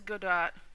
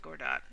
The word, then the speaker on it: Godot: soon so this is good do or I think it's pronounced Gord do everybody says it differently but uh this is